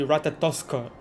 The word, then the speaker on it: Ratatoskr: Okay, he did say Ratatoskr, but without the art, yeah, so Ratatoska? So her name, the pronunciation is actually Ratatoska.